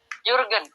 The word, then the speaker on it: Jürgen: Seperti itu Ibu cara bacanya? Jürgen.